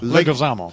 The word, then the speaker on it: Leguizamo: How do you pronounce John it? Leguizamo.